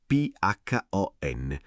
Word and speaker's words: phon: Lo strumento è il phon, scritto P-H-O-N, pronunciato phon, e il verbo è asciugare.